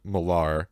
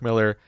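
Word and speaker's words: Millar: to us by mark miller which i was pronouncing milar because i heard kevin smith say it that way every interview i looked up every like thing i saw it was pronounced mark miller kevin uh if you hear this keep saying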